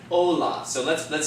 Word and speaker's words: hola: rules in mind okay we know that the first word there ends in the name therefore the accent is going to fall on the second-to-last syllable which would be the what the oh okay so that words gonna be pronounced Ola not Allah but hola so let's let's say